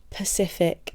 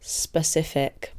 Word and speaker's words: specific: Example, Pacific instead of specific.